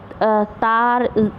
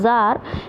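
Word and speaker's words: Tsar: सा निकोलस इसको समझने आप लोग तार इस तरीके से नहीं करेंगे इसमें मिट्टी साइलेंट रहेगा और ऐसे जार निकोलस से कंट्रोल थे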